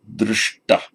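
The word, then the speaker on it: दृष्ट: words I'm underlining here, wherever you get actually a sh, a palatal sh, followed by a t, as in sprish, sprishta, it retroflexes the whole lot. That is why the sprish becomes sprishta. Sprish, sprishta. That actually always happens when you get a t following a sh in the same word. For example, we get the root drish, to see. It's the root. Darshana, seeing, darshana. But passive participle, drishta, all goes retroflex.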